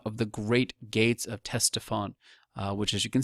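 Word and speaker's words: Ctesiphon: can see right here teston you don't hear the C when you pronounce it uh this is the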